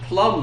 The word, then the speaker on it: plumb: Club of mine yeah it's not like the fruit to plumb it's spelled a little differently but it sounds like it's but it's a plumb line yeah yeah yeah you